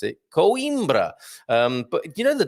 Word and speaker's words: Coimbra: you pronounce coimbra and that's exactly how i pronounce it coimbra um but you know the doc who joins me on a wednesday from time to time he calls it quimbra which has always um amused me quietly and